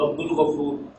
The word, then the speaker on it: Abdul Ghafoor: In this case, lam is being pronounced Abdul Ghafoor.